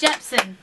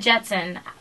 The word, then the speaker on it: Jepsen: It's Jepsen. Did I say it wrong? You said Jetson.